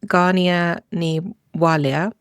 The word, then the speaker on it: Gráinne Ní Mháille: Yeah, so her Irish name, my understanding is it's pronounced Gráinne Ní Mháille, but I will be saying Grace O'Malley because I can pronounce that respectfully.